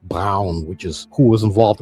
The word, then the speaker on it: Braun: A more recognized NASA rocket scientist is Nazi Feron Brown, pronounced Brown, which is who was involved in the moon landing project, although Jack Parson's contributions are understated.